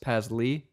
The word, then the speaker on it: Paslay: No one knows how to spell my name because it's spelled Paslay, but it's pronounced Pasley.